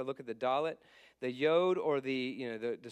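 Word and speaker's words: יוד: he's he's talking about this yod that's a y sound so y y it's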